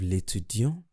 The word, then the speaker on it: l'étudiant: For the masculine, I didn't pronounce the T. While for the feminine, I pronounce the T.